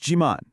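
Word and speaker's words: 지만: And here it is, your magic word, chiman. It's pronounced jiman.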